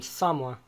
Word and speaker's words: Samoa: Also, Samoa. Is it Samoa or Samoa? I've heard it pronounced both ways.